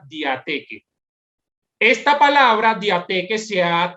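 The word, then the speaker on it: διαθήκη: La palabra concreta que se utilizó en la traducción griega del Antiguo Testamento es la que ustedes ven en pantalla y se pronuncia diateque.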